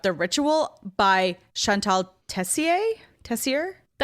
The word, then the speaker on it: Tessier: Tessier.